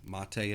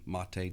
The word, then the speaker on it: MATE: folks out there who really love Linux Mint mate' edition with the mate' desktop yeah I know it's spelled mate but it's pronounced MOT a long